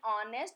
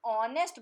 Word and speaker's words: honest: The second example, same, an honest boy. The sound of H is silent again.